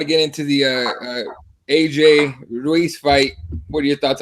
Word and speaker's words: Ruiz: This fucking Anthony Ruiz, is that how you pronounce his last name? Ruiz, yeah.